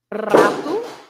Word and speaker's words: rato: So the rule is you pronounce r when you have an R at the beginning, like for example. Rato.